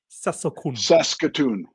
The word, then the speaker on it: Saskatoon: So that's how you pronounce it. Was it Saskatoon? Saskatoon.